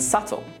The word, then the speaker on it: subtle: Let's now look at 3 more common words with a silent B. Det, doubt, and subtle. Now that you know that we don't pronounce the B in these words, try reading this sentence out loud.